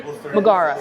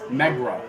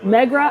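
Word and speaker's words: Megara: this one and Cafe Magara. Am I saying it right? I keep saying Cafe Magara. Is it Maggara? Meera. Megra. Megra. I've said it wrong the entire time.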